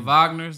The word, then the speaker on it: Wagner: The Wagner, the Wagners, them brothers. Both of them. Yeah. What? How you pronounce it?